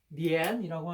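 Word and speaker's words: 恋: 그래서 내가 이제 드라마 연모를 보면서 굉장히 이런 게 좀 많이, 이 그리워할 연자가 그 중국 발음으로는 이거지. 리엔이라고 하는데, 그리워할 연자가 은나라, 주나라, 한나라, 이렇게 좀 모든 그 한자를 만들었던 주요 국가들의 어떤 집중력이라고 할까?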